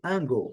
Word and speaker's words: angle: Aqui, angle, uma palavra de duas sílabas. Aqui eu faço questão de mostrar nos dicionários fonéticos, onde nós encontramos esse símbolo ao alto da transcrição fonética, que caracteriza aqui essa sílaba que é a forte. Então, a sílaba forte é essa, a primeira, angle. Lembrando, letra E não é pronunciada, então temos aqui o